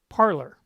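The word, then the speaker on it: Parler: going to go to parlor now you notice that parlor is spelled p-a-r-l-e-r parlor so it's pronounced parlor but it's spelled p-a-r-l-e-r so here is the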